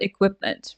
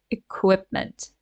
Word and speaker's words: equipment: right way right so let's remember please equipment equipment right there is a w sound there equipment right okay and